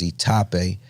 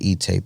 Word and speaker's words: Itape: But that's what it is, Itape. I was calling it E-tape at first.